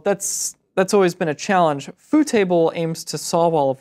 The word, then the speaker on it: FooTable: Next up is FooTable, and FooTable is a jQuery plugin that makes tables look really good at smaller mobile screen sizes. I thought it was pronounced footable.